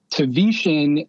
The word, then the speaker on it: Tavetian: if you're reading it it's like a tv hitting your shin i don't know if